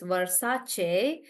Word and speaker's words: Versace: So anybody anybody who doesn't know would probably read it like but it's Versace. So it's because they are different languages.